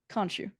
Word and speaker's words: Khonshu: And I'm going to say the name wrong again. Damn it. Khonshu.